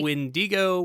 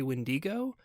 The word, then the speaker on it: wendigo: may say all three windigo windigo what our journey into it i think we found like a couple of different pronunciations i think i more casually say wendigo oh see i say windigo so you may you